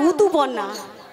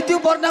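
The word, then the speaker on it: ঋতুপর্ণা: বসঞ্জিত আর উতু পন্না, কি পন্না? উতু পন্না, তোর গিয়া মানে ঋতু পন্না। উতু পন্না, আই এম ঋতু পর্ণা বল, ঋতু পর্ণা। এটা ঠিক উচ্চারণ হচ্ছে দেখছো।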